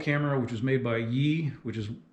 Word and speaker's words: Yi: So the main thing I noticed about this camera as compared to my old camera, which was made by Yi, which is spelled Y-I, a Chinese company you want to avoid at all costs.